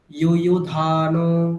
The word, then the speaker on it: युयुधानो: ওখানে আরেকটা ভুল করছেন, ইউ ইউ ওটা দীর্ঘ করে দিচ্ছেন, ওখানে দুটোই হ্রস্ব। ইউ ইউ ধানো আপনি বলছেন, ইউ ইউ ধানো এটা বলছেন, ওটা ভুল। ইউ ইউ ধানো বলুন আবার।